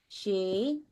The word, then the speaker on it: sídhe: because Philip asked me, how do you say sídhe? And I'm like, she.